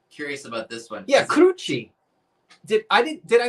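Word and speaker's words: Curci: I always thought she pronounced it. Am I fat? Pennsylvania Dutch. So Michael, I said it right. It's Kirchy.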